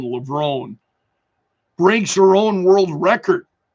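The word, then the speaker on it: Levrone: Sydney uh excuse me Sydney mcclaflin lever um or is it LeBron excuse me I I think I'm Mis mispronouncing that it's Sydney mcclaflin levone breaks her own world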